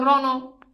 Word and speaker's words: রণ: হবে কি উম এখন রং মূর্ধন্য থাকলে উচ্চারণ হবে কি দন্ত যেমন দেখো রণ এই যে খেয়াল করে দেখো এই যে রং এখানে দেখো এই যে মূর্ধন ন হয়ে গেছে কি দন্তন মূর্ধন্য কি হইছে দন্তন হইছে এবার বলো এই স্লাইডটা